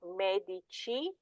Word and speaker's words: medici: So these do not take the pronunciation of the K or the G, they actually take the Ch with the soft I sound.